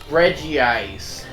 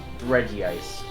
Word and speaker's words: Regice: capture this stupid Regice Reggie eyes no there is only one eye Reggie ice there is only one eye therefore it's Regice then they're mispronouncing it